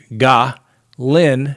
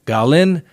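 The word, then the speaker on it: Ghislaine: a french speaking member tell me the exact way to pronounce her name and it's ga lynn maxwell garlin maxwell got it i know sometimes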